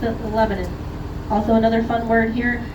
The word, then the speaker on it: Lebanon: us, there is a city that they call Lebanon. It is spelled Lebanon, people, but they spell it, or they pronounce it Lebanon.